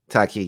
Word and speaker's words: Taaqiy: So you pronounce it Taaqiy? Taaqiy, yes, sir.